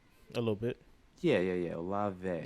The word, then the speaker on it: Olave: I feel like I never say Olave? it correctly. Say it again. Chris Olave? Olave. Okay. Mm-hmm. So it's like that one soap brand, you know? A little bit. Yeah. Olave.